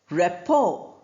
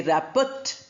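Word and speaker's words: rapport: Similarly we have the word repo. Repo is friendship. You know to have similar ideas or thoughts to agree with each other. And there the we don't say raput t is not pronounced.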